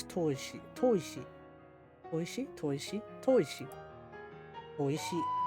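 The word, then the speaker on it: 砥石: If you're wondering what it's pronounced, it's toishi.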